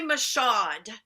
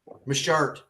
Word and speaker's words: Michaud: I cannot believe that Gregory Michaud. Michart, it's pronounced. Oh, like a shart?